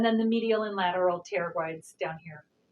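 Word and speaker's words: pterygoid: the medial and lateral pteroglides down here terabrite starts with the p like pterodactyl love that word i'm a sucker for the silent p but today it's all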